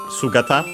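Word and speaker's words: 姿: And so then we get actual the meaning of sugata by the way accent on the first syllable which means figure, form, shape and other extended meanings.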